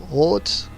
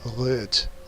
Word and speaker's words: Rot: It would actually be pronounced totally different with an umlaut, and wouldn't make any sense. That word with an umlaut doesn't exist, so it would be röt instead of rot, Rotschreck.